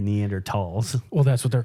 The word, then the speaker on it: Neanderthal: There would be That like, people there are would be resorting- Neanderthals watching these.